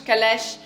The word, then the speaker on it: Calèche: So of course Calèche is a beautiful fragrance, and I don't think you can pronounce it in English. It's really a fragrance that you have to pronounce in French.